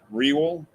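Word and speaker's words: Wirral: a little bit uh we roll we roll pronounced real oh we roll we raw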